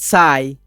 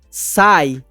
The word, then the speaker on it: sigh: With a satisfied sigh. With, com, a satisfied sigh, um suspiro satisfeito. Essa palavra ela é escrita dessa forma, sig, parece sig, né? Mas a pronúncia é sigh, e ela significa suspiro.